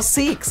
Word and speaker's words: Sikhs: We're going to visit the Southall Gurdwara, which is a place of worship for the Sikh religion, or Sikhs as it is sometimes pronounced.